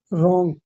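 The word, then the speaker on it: wrong: word है लेकिन meaning एक है पागल पागल रॉन्ग डब्ल्यू यहां पर साइलेंट आर से पहले डब्ल्यू साइलेंट रहता है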